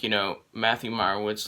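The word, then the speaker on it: Meyerowitz: doing my spoiler free movie review of the mayor wood store uh i pronounced that wrong the meyerwood stories which was a 2017 netflix movie so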